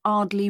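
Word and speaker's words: Ardleigh: Andrea Brown thank you and your address 24 Arley Road can you spell that a r d l e i g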